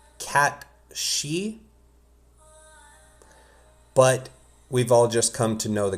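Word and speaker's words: Cait Sith: It's typically everyone just says Kate Cy in this. This is a name of a character in Irish folklore. It is pronounced cat she just come to know the character is Kate Sith.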